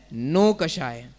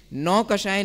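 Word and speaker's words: नोकषाय: समझा और दूसरा है नो कषाय चिकन तो आप का उच्चारण भी सही होना चाहिए नौकशाही नहीं होना चाहिए नौकशाही कुन नो एंट्री वाला जो नो होता है ना उस रूप में होना चाहिए नॉन मैं बिंदिया आ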